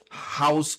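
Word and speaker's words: Haus: So for example this company called House of Lush and the House is spelled H A U S.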